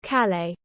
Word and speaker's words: Calais: from folkstone to Calais wait did I pronounce that right hold on Calais okay never mind I did pronounce that correctly the channel tunnel is owned by two companies jet link and high speed 1.